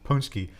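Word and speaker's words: pączki: Polish donuts, Punchki. It's not spelled anything what it sounds like.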